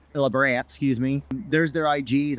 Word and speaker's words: LaBrant: even a couple years but Cole and Savannah LeBron lebrand excuse me there's their ig's I just you